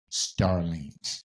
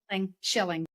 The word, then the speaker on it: Schilling: Let's welcome to the show the beautiful Starling to the show. Did I pronounce the last name right? Is it is it is it Serling? Sterling. Shilling.